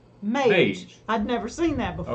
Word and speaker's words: Mage: He said, I'm a guy pronounced like Page or Sage. Mage. I'd never seen that before. Okay. Yeah. I was going to say Maggie.